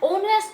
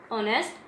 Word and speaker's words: honest: An honest man, H is silent in this honest, H is silent, honest man.